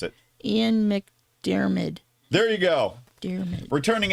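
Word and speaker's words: McDiarmid: returning as Emperor CH Palpatine how would you pronounce it Ian mcdermid there you go dmid returning as the Emperor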